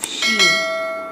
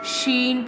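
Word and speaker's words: ش: Now I'm telling the pronunciation of sheen. Sheen pronounced from the middle part of the tongue touching the middle part of the pallet top of the mouth like this. Sheen.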